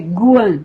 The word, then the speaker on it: Kuan: A pronúncia de Kuan, no canto do mantra chinês, é Guan, G.